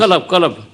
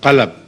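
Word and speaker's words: قلب: Qalb. Huh? Qalb. Qalb. Qalb. No, this is what I couldn't understand. The right pronunciation is qalb, Qalb, yes. not qalab, I see.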